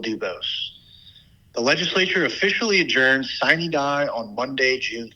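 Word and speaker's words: sine die: your host will dubos the legislature officially adjourns siny die on Monday June 3 and for those of you who skipped Latin class like me sin die is actually pronounced Cen da and means without day this session has been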